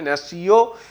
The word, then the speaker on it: natio: নেশন শব্দটি ল্যাটিন শব্দ ন্যাসিও, NATIO উচ্চারণটা হবে ন্যাসিও, যার বাংলা মিনিং হচ্ছে জন্ম বা জাতিগোষ্ঠী।